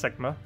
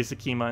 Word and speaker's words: Sekma: I know how to pronounce Sekma. It sounds weird because it sounds like a dirty word. It sounds very close to a dirty word. So I normally say Sakima instead.